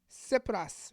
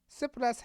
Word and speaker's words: Tsipras: suspense plus six plus I know you think the T and s sounds s tsipras right tsipras has vowed that he